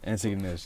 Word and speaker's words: Antigonish: So, in that last semester, when you were meeting the people, it's Antigonish? How do I pronounce it? Antigonish, yeah.